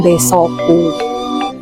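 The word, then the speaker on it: Desokue: Sehingga kami mengambil konsep untuk warung kami di warung Desoku. Ejaan kue tapi dibacanya ku.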